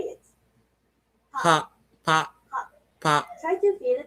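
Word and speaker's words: ぱ: Ha with the handakten is pronounced pa, Pa.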